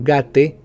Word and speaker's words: gate: El sufijo gate, pronunciado gate, se utiliza universalmente para